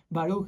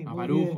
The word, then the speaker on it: Baruch: ¿Puedes decir cómo se pronuncia tu nombre? Baruch. Y yo, ok. Baruch, ok.